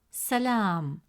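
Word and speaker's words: سلام: peace, the letter lam has a fatha vowel, which gives it a short a sound, pronounced as la. Since the long vowel alif comes immediately after la, it stretches the short a sound into a long a sound. Instead of pronouncing it as la, the presence of alif makes it la. As a result, the correct pronunciation of the word is salam, salam.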